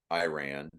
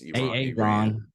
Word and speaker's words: Iran: mispronounced our country's name it's Iran not Iran or Iran it's a a Ron and then he starts